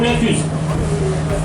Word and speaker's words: La Clusaz: Alors d'autres exemples comme la Clusa s'écrit avec un Z à la fin, on ne dit pas la Clusaz, on dit la Clusa ou la Cluse.